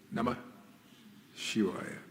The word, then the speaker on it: Namah Shivaya: And that you can say that Na has to be, a long Na got to be there. Oh, Namah Shivaya, Om.